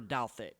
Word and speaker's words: Douthat: And that was my September 10th, 2023 interview with Mary Douthat, mother of Christopher Douthat. And once again, yes, that is how you pronounce that last name.